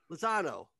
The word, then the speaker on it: Lozano: Nick, I keep pronouncing your last name wrong. Lozano. Is that correct? You got it, man.